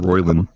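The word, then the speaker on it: Roilyn: name you Slinky cat thing my name is royin rayan the cat what what an oddly normal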